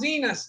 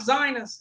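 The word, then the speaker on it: Zinus: yeah all the different sizes and it is pronounced Zenus not zionus it's Zenus yeah it's Zenus anyway they got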